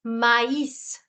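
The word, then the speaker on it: maïs: And now this becomes mais. Mais. S is also sounded in this case, mais.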